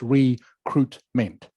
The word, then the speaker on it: recruitment: this word here recruitment comes from French French word okay um which is why you don't pronounce the I all right so it